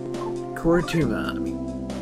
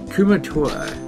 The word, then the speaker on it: Kumatora: Kuratuma. Kumatora. I don't know how I keep getting her name wrong.